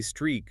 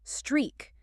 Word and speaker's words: streak: I have a 10-day streak of reading English articles. Pronunciation. This is 1 syllable. Streak. Make sure you stretch that E sound in the middle, like the word tree.